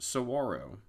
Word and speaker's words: saguaro: as i'm sure you figured out by now saguaro is named for the giant cacti all around the park i didn't find out until after the trip that saguaro is actually pronounced saguaro the more you know we explored the rincon